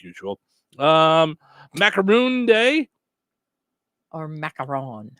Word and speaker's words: macaron: Macaron is uh is that crunchy kind of sandwich that's filled with yummy goodness.